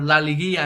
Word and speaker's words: La Liguilla: Because right now they are in their playoff format, or La Liguilla in Spanish, that's how you say it.